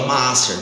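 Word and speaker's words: מעשר: No hebraico tem a pronúncia chamada Maaser.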